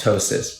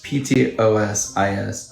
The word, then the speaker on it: ptosis: the eye that's called ptosis p-t-o-s-i-s i beg you not to pronounce the p it's not there it's ptosis so that's